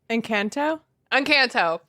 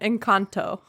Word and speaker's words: Encanto: Encanto? That was the extremely white pronunciation. Encanto.